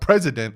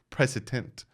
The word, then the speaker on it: precedent: It's not president. I'm not saying president, precedent.